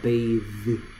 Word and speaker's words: bathe: 얘는 똑같이 혀를 무는데 z 발음입니다. bathe.